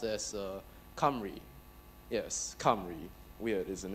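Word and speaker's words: Cymru: four minutes okay okay first off it's not pronounced sim rule it's Welsh and it's pronounced s Camry yes come really weird isn't it now let's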